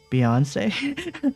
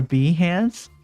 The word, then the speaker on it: Behance: ArtStation is it's like I don't know how you pronounce this, but it's like Beyonce or Behance. It's Behance. But yeah, that's like the graphic design equivalent of like visual design.